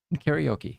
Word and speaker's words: karaoke: Karaoke, yeah. But it's spelled with like car.